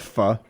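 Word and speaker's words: phở: It's called fu. It's spelled faux, but it's pronounced fu.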